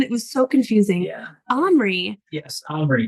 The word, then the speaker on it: Omri: Omri. That's the name of the main character. Got his name wrong throughout almost the entire movie. I know, it took us so long to figure out what they were really saying.